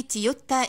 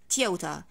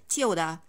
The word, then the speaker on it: Toyota: that thing of course guys i don't say tiota in english that's mere arabic pronunciation if i need to pronounce this word correctly in english i'm gonna say tiota again tiota toyota some people who tend to the american accent